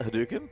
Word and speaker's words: Hadouken: Hadouken?